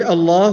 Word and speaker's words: Allah: a heavy manner and if the last vowel that comes before the word Allah is is a casaba then the word Allah will be pronounced in the light manner so the word Allah